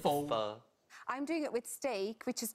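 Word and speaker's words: phở: It only takes 10 pronouncing it wrong. So not pho, it's pho.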